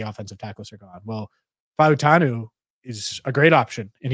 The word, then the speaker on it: Fautanu: And all right, so it's Fautanu. That just to establish it, because I say it wrong too. And so I just looked it up in the Beast to confirm. Fautanu.